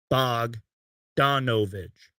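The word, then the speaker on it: Bogdanović: I can't read you guys know I can't pronounce names Bo Dan bog donovich thank you Michael Simpson but you guys know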